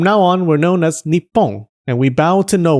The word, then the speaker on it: Nippon: Anyways, this new name was pronounced Nippon by the Japanese.